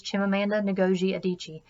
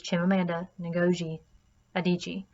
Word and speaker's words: Chimamanda Ngozi Adichie: editing and absolutely time to look up the pronunciation of this author's name and it is Chimamanda Ngozi Adichie and it is it is Chimamanda Ngozi Adichie just as a personal note to myself and